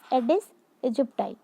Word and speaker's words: Aedes aegypti: Children have written the pronunciation of this word with pencil here so that it will be easy for you to pronunciate. That is Aedes aegypti.